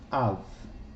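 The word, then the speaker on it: אב: Aqui ele tem o som de V, porque não tem o Dagesh. Av, né? Sinalzinho do Aleph. o Kametz, o Beit sem dagesh, Av, quer dizer pai.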